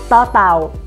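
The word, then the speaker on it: ต เต่า: ต อ เ ต่ า is pronounced as ต อ ต อ .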